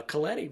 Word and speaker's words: Coletti: Uh, Kleti rhymes with spaghetti.